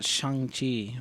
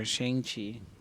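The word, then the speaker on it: Shang-Chi: so that's that yeah and then you got shangji or shangchi depending on how you want to pronounce it um this is interesting because this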